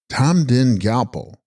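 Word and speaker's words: rTa-mgrin rGyal-po: Text Rata, Mgrin, Gyal Po, pronounced Tamdin Gyalpo, Sanskrit Hayagriva, horse-necked king, the doorkeeper of the west.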